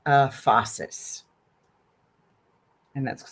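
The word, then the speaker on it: phasis: There's something called uh fossus and that's spelled ph um ph a s i s fossus and it's a henistic term actually uh that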